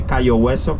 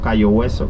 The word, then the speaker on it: Cayo Hueso: And when the British got Key West, they heard that the natives say Cayo Hueso, Cayo Hueso, Cayo Hueso. They quickly translate Key West. By pronunciation, by noise.